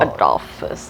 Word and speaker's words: Adolphus: Like but you just gotta look at how it's spelled. The Adolf Hitler Hotel. Adolphus, like that.